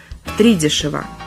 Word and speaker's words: втридешево: У наречия, характеризующего покупку чего-либо по завышенной цене, есть только один правильный вариант ударения – втридорого. То же самое касается и антонима этого слова – втридешево. Хотя в речи оно встречается, увы, заметно реже. Запомнить постановку ударения поможет числительное «три» с его единственной гласной «и». Она-то тут и будет главной.